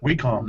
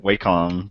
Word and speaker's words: Wacom: So do you neither one of you, I know Agent 70 mentioned how you pronounce it, Wacom tablet? Wacom, right? Wacom.